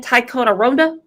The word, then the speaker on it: Ticonderoga: Ticonderoga?